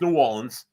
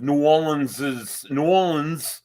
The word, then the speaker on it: New Orleans: Not New Orleans, like some people mispronounce the word, but it's New Orleans.